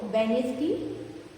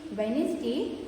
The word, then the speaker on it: Wednesday: See, look at the word Wednesday, sandwich, handkerchief. Okay, when you say Wednesday, D is silent because we do not pronounce it as Wednesday.